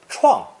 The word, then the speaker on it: 创: Originally pronounced first tone, 疮, 疮, meaning a knife injury or a wound, it's more commonly pronounced fourth tone, 创, 创, meaning either a wound or to cut through brush and trees to clear a path forward.